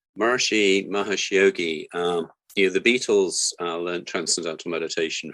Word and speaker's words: Maharishi Mahesh Yogi: Maharishi Mahesh Yogi.